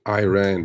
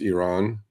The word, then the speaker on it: Iran: I mean, you know, look, I do understand Americans pronouncing Iran because it's that I, right? Okay. Uh but truthfully it's Iran and truthfully it's Iraq.